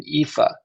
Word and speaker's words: Aoife: By the way, I believe he pronounces his name Aoife. He didn't say that very clearly for you at the beginning, but that's my understanding. Yes, that is how you say it. It's Aoife.